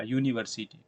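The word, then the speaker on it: university: लेकिन यहां पे यूनिवर्सिटी से पहले ए इसलिए यूज़ हुआ है क्योंकि आप जब यूनिवर्सिटी को उच्चारण करेंगे तो कहीं ना कहीं पहले आपका मुंह से जो आवाज आएगा वो वाई से होगा। यूनिवर्सिटी।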